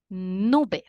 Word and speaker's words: nube: Nube. Nube. 2 syllables. Nu is the strongest part of the word, which means that this word is grave.